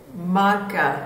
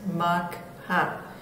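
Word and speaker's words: Mocha: Powerful cyclone Maka, which is actually pronounced Makha.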